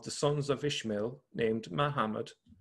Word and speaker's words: Muhammad: In that period, a certain one of them, a man of the sons of Ishmael named Muhammad, or actually I should say it correctly, Mahmed, became prominent.